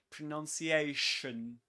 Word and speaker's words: pronunciation: It's not shun, but shun. And look at my teeth. I barely open them. Shun. Pronunciation.